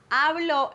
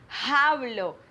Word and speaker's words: hablo: saying the h like hablo espanol because the h is silent it doesn't matter if it's at the beginning or in the middle or at the end of the word the